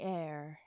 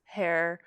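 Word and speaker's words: heir: Love is in the air. Air. H-E-I-R. Air. I was listening to an audiobook the other day and they said air, like spelled like this, as hair, and then I had to stop listening to the audiobook.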